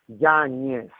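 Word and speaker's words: Yáñez: So mine is pronounced with a little wiggle on top of the end, so it's pronounced YANEZ. Like Munoz, YANEZ.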